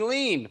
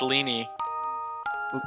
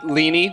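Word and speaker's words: Leene: all of two minutes everyone calls me lean that's weird it's leany leanie really yep yeah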